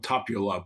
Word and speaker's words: Tapiola: name of this piece is it tapiola I well what I asked my Finnish friends it's something a little bit more clipped like tapula but let's say tapula